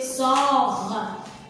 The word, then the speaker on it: sort: S avec or, c'est sort. Le T, comment elle est? Elle est muette. On ne prononce pas le T.